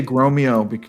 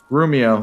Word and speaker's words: Grumio: I want to say Gromeo, but that's wrong. Grumio, there it is.